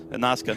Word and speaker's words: Nasca: NASCAR just with a silent R. Nazca.